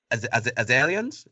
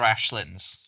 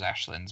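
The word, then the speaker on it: Aislings: It's Irish, so it's The Midnight Court and Other Ashlins. So again, I would never have thought it was Ashlins, but yeah, it's Ashlins, that final word.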